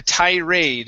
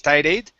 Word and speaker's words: tirade: this last part so this is the thai raid instead of tide aid okay tirade continued with